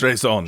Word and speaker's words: Staatsräson: The how do you pronounce it? Staatsräson. Staatsräson.